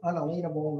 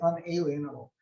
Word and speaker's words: unalienable: have an unalienable now a lot of people mispronounce that word unalienable and they say unalienable it's unalienable and that means it can't place